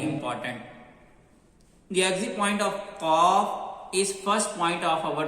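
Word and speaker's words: ق: So I already told you the green color always show sound will be heavy. How you can pronounce heavy sound very easily? You will be do just round your lips.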